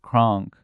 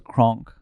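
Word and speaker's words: Krank: I thought it was Kronk. Because it's French. One, right? Yeah, the bald one. Okay, the bald freak. Like you spell it crank, but it's French, so it's Kronk.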